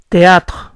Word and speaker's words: théâtre: La palabra teatro se pronuncia théâtre, pero la señora al hablar rápido omite el sonido eri.